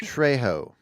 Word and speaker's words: Trejo: I believe it's pronounced Trejo. Trejo. Yeah, you shouldn't pronounce the J, right?